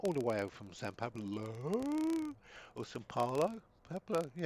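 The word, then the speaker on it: São Paulo: So, and it's not San. It's SAO. Sao Paulo. Sao Paulo. Sorry. Yep. Yep. So there we are. For the last 72 years, I've been pronouncing that totally wrong because I've always called it San Padlo, but it's not. It's Sao Paulo.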